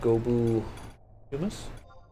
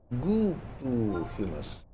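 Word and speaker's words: Gobbue humus: Could it be some yummy gobu humus? Gooboo humus. Been mispronouncing that for better part of a decade.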